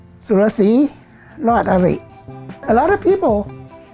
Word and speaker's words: Surasee: Surasee. Surasee.